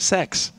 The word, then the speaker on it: sex: Sweden guys the letter the number six rather not the letter is pronounced sex which leads to a